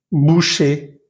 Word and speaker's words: boucher: No vamos a pronunciar esa R final. Por ejemplo, en la siguiente lista. Danger, boucher, boulanger, cahier, papier, quartier, premier, dernier, léger, entier, pommier, bananier.